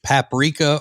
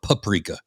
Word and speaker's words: paprika: And the the only thing that you're waiting to hear is if the person pronounces it paprika or paprika. Paprika.